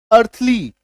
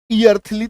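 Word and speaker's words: earthly: ठीक है, जैसे ई ए आर टी एच एल वाई, अर्थली, ईयर्थली तो नहीं बोलते।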